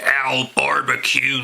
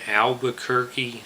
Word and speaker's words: Albuquerque: the motel one in Al barbecue New Mexico don't you mean Albuquerque New Mexico will excuse me mr.